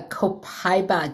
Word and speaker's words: copaiba: $12.95 oil of the month, which is a copaiba.